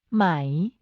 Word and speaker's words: ไหม: ไหม becomes a question word when used at the end of a sentence. The pronunciation is in the rising tone.